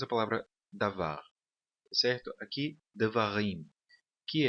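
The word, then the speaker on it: דְּבָרִים: Existem 3 sílabas nessa palavra e a última sílaba é a sílaba tônica, rim, tá bom? Devarim.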